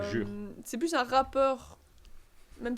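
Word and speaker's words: Jyeuhair: Alors ça s'écrit J-Y-E-U-H-A-I-R, pas J-U-R. Voilà. Jure.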